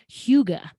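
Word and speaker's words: hygge: spelled h-y-g-g-e you've probably seen it before it's pronounced huga and it's it's kind of their word for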